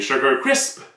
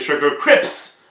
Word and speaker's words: Sugar Crisp: Exemple, la petite pancarte là-bas, là, des Sugar Crisp. Il y en a qui disent des Sugar Crips. Comme si le P était avant le S. Non! C'est des Sugar Crisp.